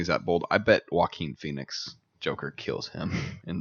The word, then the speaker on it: Joaquin: good cast oh yeah joaquin phoenix right that's how you say it walking vlogs robert de niro